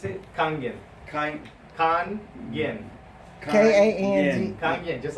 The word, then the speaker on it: Kangen: How you pronounce it? Kangen.